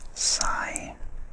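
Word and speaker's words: psi: The ability of a cat to find its way home is called sigh traveling. I'm not sure if I've pronounced that right. It may be a silent P, but it's spelled P-S-I, sigh traveling.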